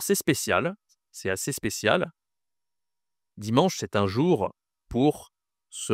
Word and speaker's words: dimanche: On dit dimanche. Dimanche dimanche. Alors attention, ici tu as toujours la nasale en en OK dimanche et ici tu as.